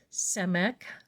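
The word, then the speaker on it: Samekh: this card is blue the Hebrew letter is semic or it is spelled s a m e k h the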